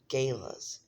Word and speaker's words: gala: Is it gayla or gala? I can never remember. I look this word up every time. I swear. And I never can remember. pronunciation. Gayla. Gayla. Gayla. That is from the American Heritage Dictionary of the English Language, fifth edition.